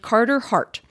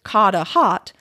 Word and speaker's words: Carter Hart: goalie named carter hart philadelphians would typically say this name rhotically however another player on the team and one of the commentators for the team are from boston and have made their pronunciation of it coda hot pretty popular i couldn't tell you